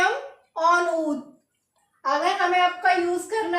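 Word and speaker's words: en haut: एच को H silent होता है, मैंने आपको पहले भी बताया, एच को प्रोनाउंस नहीं करेंगे तो AUT को ऑनऊत।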